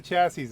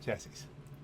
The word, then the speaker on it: chassis: not quite tear the chassis apart. Chassis, not chassis. Tear the chassis apart. Why the S is silent, I don't know, but it is.